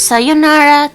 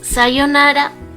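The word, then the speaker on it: さようなら: Yeah, that's because this here, it's to prolong the O. So even if it's an U, even if this is U, on pronunciation, because you are making this one longer, it's O.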